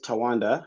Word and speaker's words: Tawanda: So my name is Tawanda, as you correctly pronounced it.